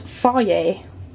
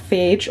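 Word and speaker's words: Fage: These, now I recently learned that this is actually pronounced Faye, not Phage or Fudge, which I was wrongly calling it.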